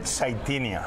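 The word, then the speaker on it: Zaytinya: Okay, we call it Zaitinia. Zaitinia.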